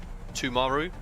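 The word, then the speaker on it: Timaru: excited Adam Wednesday yes just remember to pronounce the I as a u tumaru I have so pronouncing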